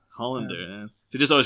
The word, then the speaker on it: Hollander: Was it Hollander or Hollanday? I'm not too sure what way he'd prefer it pronounced. I've only ever heard it as Hollander. Hollander, yeah.